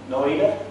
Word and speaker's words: Noida: HCL Technologies in Noida, is that how you pronounce it? Noida, India? Noida.